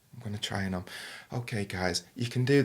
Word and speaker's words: Om: So Om is spelled A-U-M. Yeah. A lot of people see it as O and M. And Om is got 3 parts. So R, which is like A, which is like the source of creation, which